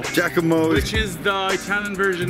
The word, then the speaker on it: Giacomo: Giacomo. Giacomo.